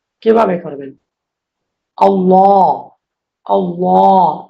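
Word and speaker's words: الله: আল্লাহ। আল্লাহ। আল্লাহর যে লাম আছে এইযেলাম। যে লামটা দেখতে পাচ্ছেন এইযে আমি যেটাকে সীমাবদ্ধ করেছি। এই আল্লাহর লামটা মোটা হবে। আল্লাহ এভাবে হবে।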